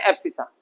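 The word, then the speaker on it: abscissa: पढ़ोगे उसको finा सा लेकिन इसको बोलते हैं एप्सिसा बराबर पढ़ते समय बोलना एफ साइंसाइ तो स्पेलिंग याद हो जाएगी एफ साइंसा बोलोगे स्पेलिंग याद हो जाएगी और एफ्सिसा बोलते हैं उसको कोई पूछे x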